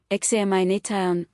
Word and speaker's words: examination: The syllable before tyan is stressed, examination, stress on na.